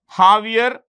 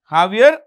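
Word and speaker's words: Javier: of the president jaier the J is pronounced with an H jaier mil jaier mil so that's about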